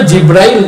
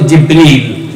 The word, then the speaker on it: জিবরিল: আসলে জিব্রাইল না, শব্দটার সঠিক উচ্চারণ হচ্ছে জিবরিল।